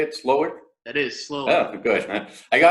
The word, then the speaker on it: Slowik: Is that how you say it, Slowik?